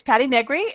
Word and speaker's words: Patti Negri: uh introduce yourself patty uh my name is patty negri um good pronunciation um i live in hollywood los angeles